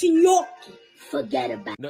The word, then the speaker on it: gnocchi: It's not gnocchi. It's gnocchi.